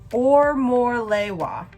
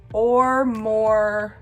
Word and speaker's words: Omolewa: says on the website, is pronounced Omolewa. Omolewa.